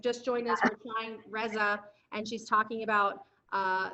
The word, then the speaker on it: Resa: journey well i mean i say raisa but in swedish it's like a nice slap or something like that so i don't speak